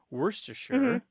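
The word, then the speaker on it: Worcestershire: word is so old worst to sure is how you say it more or less that word is so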